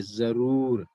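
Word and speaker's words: ज़रूर: This is j, and here this is not j, this is z, है ना? तो we will pronounce it like z. Okay, जरूर, जरूर आना, जरूर नहीं।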